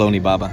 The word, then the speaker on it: Onibaba: say it or it is it's actually called onibaba yeah okay well you say very fast shout